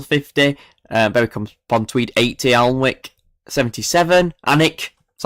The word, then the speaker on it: Alnwick: Alnwick, that's how you say it, Alnwick 77.